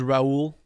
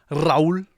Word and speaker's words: Raul: My name is Raul. Raul. If you want to roll your R's and feel powerful.